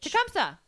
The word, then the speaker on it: Tecumseh: Spell it for me. Tecumseh. Tecumseh.